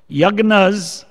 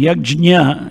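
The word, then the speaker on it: यज्ञ: Yagnas, I think yagna is Hindi, yajna is Sanskritam. Yajna, if you look in the pronunciation, nya, na and ja mix. Yajna. The ja comes first, yajna. And Hindi and Gujarati, Bengali, they say yagna or yajna.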